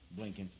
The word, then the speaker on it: Blinken: Blinken.